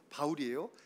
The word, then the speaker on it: 바울: 하나님을 섬긴다고 싸울 때죠 사울이란 이름은 히브리적인 발음에서 사울이에요 바울이라는 것은 헬라적인 발음으로 바울이에요 그래서 예수님 믿은 다음에